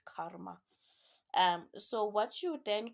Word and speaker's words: karma: you normally call karma karma is a karma to be pronounced the r is the silent karma um so what you